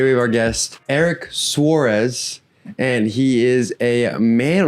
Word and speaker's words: Suerez: to tell everyone that your name is actually pronounced Suarez.